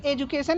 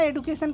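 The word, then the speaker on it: education: सर एजुकेशन या एडुकेशन क्या पढ़ेंगे? दोनों ही सही है. एजुकेशन भी प्रोनाउंस करते हैं, एजुकेशन भी प्रोनाउंस करते हैं. गलत नहीं है वो भी. ओके. बस थोड़ा ब्रिटिश अमेरिकन का फर्क है और कुछ नहीं.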